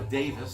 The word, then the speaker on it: Davies: member of the band here Ray Davies so Davis says he pronounces at a fish it's probably the English